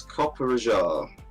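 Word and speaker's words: Copperajah: be done friends and here's copper raja that's how you pronounce it uh the spig steel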